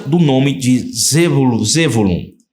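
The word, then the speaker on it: זבולון: nome de zol zulum primeiro vem a letra Zaim Olha a pronúncia a primeira letra tem a pronúncia de Z Zaim Depois tem o Bet Depois tem o vav Depois temos lamed Depois tem o vav novamente e finalmente o n que que significa isso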